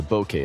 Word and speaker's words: bokeh: This was debunked due to what’s known as the Bokeh effect , where a cell phone’s